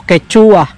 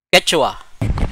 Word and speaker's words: Quechua: Kasi ang dati naming pronunciation dito, Quechua. Ay, hindi pala tama yung Quechua. Ang tamang pronunciation pala ng Quechua ay Quechua.